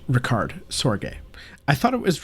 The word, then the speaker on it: Richard Sorge: His name is pronounced Richard Sorge. I thought it was Richard Sorge at first, but he was neither British nor American.